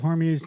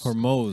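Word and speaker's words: Hormuz: My favorite is when they say uh well the straight of Hormuse needs to what's it called? Hormuse. Hormuse. Hormos is actually how it's pronounced.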